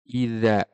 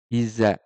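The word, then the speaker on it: إذا: pengucapannya dza sa d idza idza ya idza tidak idza idza kadang-kadang huruf dza itu dibaca seperti Zai Iza ya idza dza idza Ja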